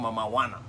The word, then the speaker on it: Mamajuana: it so this is mama wanna know my Regina anyway but don't confuse the pronouncation it's called mama wanna so this is how mama wanna it's me